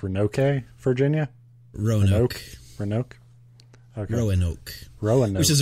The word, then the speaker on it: Roanoke: It feels even lonelier when you come in from a place like, how do you spell Roanoke, or pronounce Roanoke, Virginia? Roanoke.